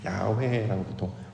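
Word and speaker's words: 야훼: 우리가 이제 발음으로는 여호와라고 발음을 합니다만 원래는 이제 훅 하는 소리가 똑같은 것 같습니다. 야회라고 그러죠. 요거요 발음이에요.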